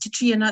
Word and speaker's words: Catriona: So my name's spelled Catriona, but it's pronounced Katrina, it's Gaelic.